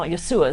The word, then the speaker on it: Yeshua: Jesus, and you know, Yeshua is how they say it.